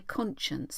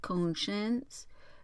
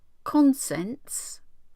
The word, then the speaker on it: conscience: Ooh, conscience. It's how it's spelt, but it doesn't look right, does it? Conscience. Is that the same again? I do wish it wouldn't keep doing that. Consents. It's conscience.